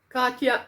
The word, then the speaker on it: Katia: from jehovah crochet says you call it you pronounce it katia ushaya katya is gorgeous expensive but worth it now this